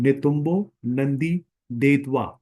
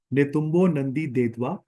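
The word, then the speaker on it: Netumbo Nandi-Ndaitwah: मैं आपको प्रोनाउंसिएट करके बता रहा हूँ, नेतुम्बो नंदी देतवा। आई am again repeating, नेतुम्बो नंदी देतवा।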